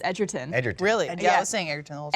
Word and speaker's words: Edgerton: get that name wrong it's not a Girton it's Edgerton really I guess singer